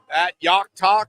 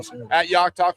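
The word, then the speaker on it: Jach Talk: Yeah, just go to uh Yockt Talk. So, J A C H Talk. The name's pronounced pronounced differently what it's spelled. So, Yockt Talk on Twitter and then obviously Joe Yock on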